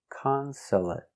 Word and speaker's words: consulate: conso a conso t consolate consolate consolate three syllables the stress is on the first syllable consolate consulate also finish with a stop T consulate not consolate but stop